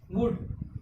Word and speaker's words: would: वुड, WOULD। एल क्या हो गया?